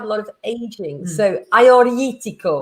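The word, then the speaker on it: Agiorgitiko: So Ioetico. Ioetico, yeah. There's a lot of G's in there that you don't pronounce.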